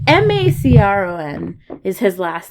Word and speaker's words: Macron: Oh, is it pronounced Macron? Macron. It's Macron is his last name, and he's a president.